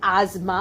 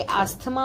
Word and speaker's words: asthma: इसे एक्चुअली आजमा बोला जाता है इफ you gonna see the pronunciation, but वी से आस्थमा आल्सो, एस्थमा आल्सो.